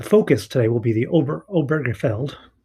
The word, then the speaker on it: Obergefell: Um, and so the focus today will be the Obergefell. There's an extra syllable in there that I always miss.